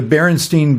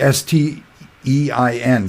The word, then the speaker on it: Berenstain: Another one, like the Berenstain Bears, that's how it's said and spelled, Stain, S-T-A-I-N. It's a cartoon for kids, but the popular, normal way you would expect a word like that, a sort of a Jewish German word, would be S-T-E-I-N, Stein.